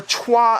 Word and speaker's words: Troyes: troyes or trois as it's more accurately called but i always